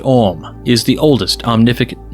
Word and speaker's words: AUM: and writers held that AUM pronounced om is the oldest omnificent